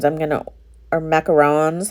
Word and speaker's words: macaron: that's what those um macaroons i'm gonna are macarons how do you say that i always say macaroon and i know it's wrong but macaron i sound like